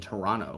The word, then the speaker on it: Toronto: here Toronto is yeah it's pronounced Toronto you don't say the second T um I learned that